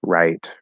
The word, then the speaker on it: write: infinity which is uh does wr make exactly the same as r in all cases like in the words rap write wrote etc they all sound they all have the same pronunciation it happens with where and rare too okay good question very